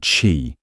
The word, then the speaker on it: Qi: The most widely used standard is called Chi, pronouncedqi, which ensures that different brands and models can work with the same chargers.